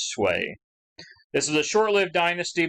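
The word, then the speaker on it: Sui: That's how you pronounce that, is Sway.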